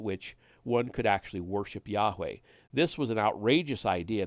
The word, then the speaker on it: Yahweh: The numerological elements seized their attention, and even the Hebrew name of God, pronounced Yahweh but written as Yod-Heh-Vav-Heh, took on special meaning.